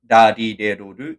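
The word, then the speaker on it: る: Then the same for the ru. It's like a mix between the letter d and r. So d not r not do but do.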